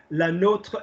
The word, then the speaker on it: nôtre: Another way I always teach it is to think how Americans say Notre Dame. Yeah, no, they don't say Notre Dame, they say Notre Dame, like as in the university rather than, So yeah, so so la nôtre is more interesting.